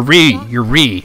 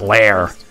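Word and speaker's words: Reah: Oh, right, in this version she calls herself Lair? Which, what? No, you're Ree, R-E-A-H, not Lair.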